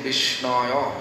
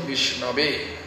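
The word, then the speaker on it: Viṣṇave: Murkho badoti vishnaya. It is wrong. Vishna is wrong. Dhirang badoti vishnave means intellectual, studious people, they may say Vishnave. It is right.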